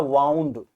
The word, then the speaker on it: wound: इसकी second form होती है WOUND, थर्ड फॉर्म भी होती है WOUND, और इसका प्रोनाउंसिएशन होता है वाउंड। वाइंड, इसका प्रोनाउंसिएशन होता है वाइंड।